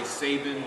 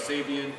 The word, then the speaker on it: Sabian: spell their name wrong they would say saban instead of sabian so some people would